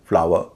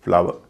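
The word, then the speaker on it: flower: यानी British English में इसको बोलेंगे फ्लाव टावा। पाव हम भारतीय बोलते हैं फ्लावर टावर पावर।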